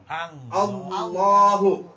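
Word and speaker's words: الله: fathah ingat sekali lagi Kalau sebelum lafaz Allah fathah maka lam di sini harus dibaca tal tebal himim tafhim atau te teal tarik sebalikna sebalikna Allah tebal itu caranya bagaimana Tengah lidah kita nih Allah Allah Tengah lidah kita agak ke atas ya Allah Coba saya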